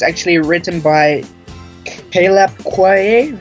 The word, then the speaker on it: Quaye: It's actually written by Caleb Quaye. How do you pronounce his last name?